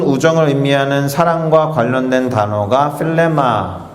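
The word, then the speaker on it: φίλημα: 필레마라고 발음되는 그리스어예요. 필레마.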